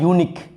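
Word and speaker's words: unique: यू का 2 गो होता है प्रोनाउंसिएशन। कभी यू को आप य भी पढ़ते हैं, कभी अ पढ़ते हैं। जैसे लिखा हुआ है यूनिक, यूनिक pen, unloaded gun, तो यूनिक पढ़ रहे हैं तो यहाँ पर यू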